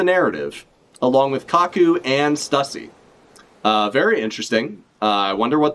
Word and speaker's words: Stussy: Stussy? I was like, rhymes with pussy, but like, no. We got Stussy with her fucking awful dog hat.